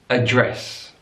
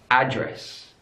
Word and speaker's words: address: English mobile the benign address address stresses on the last syllable in American English address address stress is on the first syllable looking at the stress